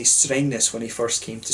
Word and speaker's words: Strängnäs: But this brewery is apparently named for the fact that Glenn couldn't say Strängnäs when he first came to Sweden, and, you know, he used to pronounce it as strangeness, and that just stuck